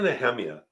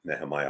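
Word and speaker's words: Nehemiah: neemia was his and it's pronounce it nemiah all the time it's actually neemia but he he was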